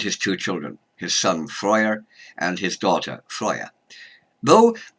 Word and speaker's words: Freyja: Freya is usually pronounced Freya though that is a modern pronunciation in several languages her name in Old Norse would be friar so one can say